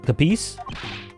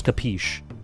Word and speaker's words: capiche: Capice? Hold on. Stop! Capiche. I opened a video that was supposed to tell me how to pronounce capiche, but I just read, it's capiche.